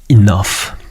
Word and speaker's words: enough: You think about the word enough, for example. Okay. GH pronounced f.